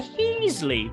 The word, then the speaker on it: Heasley: Yu Darvish going on the mound here for San Diego, going up against Jonathan Heasley. Rhymes with Ron Weasley, and one's a wizard, and the other one's Jonathan Heasley and sucks at pitching.